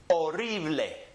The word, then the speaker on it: horrible: So when we pronounce it, remember that the H is silent, so we start with that letter O, and we say horrible.